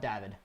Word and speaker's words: David: We pronounce it David, but some of the Europeans call it David.